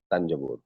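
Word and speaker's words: Thanjavur: थंजावुर उस वक्त कहा जाता था, not today it is being pronounced as तंजावुर या तंजौर.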